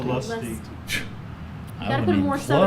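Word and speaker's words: Olustee: Am I pronouncing that correctly? Olusty. Olusty.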